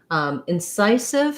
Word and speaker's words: incisive: have incisive so incisive incisive has second syllable stress and the letter c says the s sound which we associate with letter s so again unstressed first syllable has the if vowel in then there's our stress marker psi we have the i diphthong and then another sound